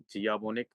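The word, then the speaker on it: Cvijanović: इस वक्त जो सदर है वो हैं सेलजा शीजाबोनिक जियाबोनिक क्योंकि जे साइलेंट है और वो नवंबर 2025 में सॉरी जून 2025 में अपनी टर्म पूरी करेंगी।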